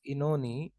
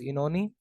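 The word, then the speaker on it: Oenone: So Tithonus, Ulysses, and Inoni. This is pronounced as Inoni. I checked in Google also. It's pronounced as Inoni. Inoni.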